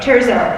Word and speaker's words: Terzo: name on turo your last name being I mispronounce it me yeah my last name yeah turzo turo uh I remember the year the first